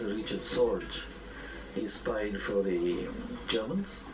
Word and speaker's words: Richard Sorge: The name pronounced Richard Sorge.